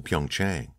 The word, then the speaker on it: Pyeongchang: They secured me a hotel suite in one of the new hotels in Pyeongchang. Tang, he said, correcting her pronunciation. The CH is said so harshly that it almost makes a T sound.